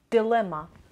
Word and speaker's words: dilemma: seventh word is dilemma dilemma the stresses on the second sample dilemma is a situation which